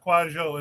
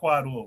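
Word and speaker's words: Kwadwo: Kwajo is the pronunciation, not Quadwo.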